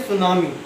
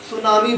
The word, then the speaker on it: tsunami: नहीं करते हैं तो साइलेंट रहता तो सुनामी बोलते हैं वक्त यह जैपनीज़ रोल है तो इसको सुनामी पढेंगे तो सुनामी में